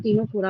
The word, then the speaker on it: Ctenophora: अगर हम वहां निडारियन बोल रहे थे तब सी साइलेंट था, यहाँ टीनोफोरा में भी सी साइलेंट, क्योंकि यही दो फाइलम